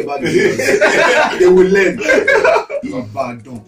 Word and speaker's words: Ibadan: Ibadan. Ibadan.